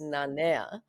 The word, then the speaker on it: Nanea: Nanea.